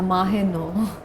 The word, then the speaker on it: Mah-e-Nau: मेरा नाम कहीं भी सही नहीं लेते कोई माहनूर माहे नौ माहे नूर तो मतलब सही नाम